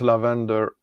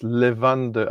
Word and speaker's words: lavande: No, it's not lavender. It's levande.